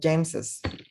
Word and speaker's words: James's: El apóstrofe es gráfico, no tiene ningún sonido. Sin embargo, en el que sí tenemos la S al final, apóstrofe S, sería Chris's, o James's, Jess's, Jonas, Joneses.